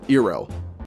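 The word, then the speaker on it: Iroh: ship the bald boy introduced to Zuko's Uncle ero yeah that's really how they say it he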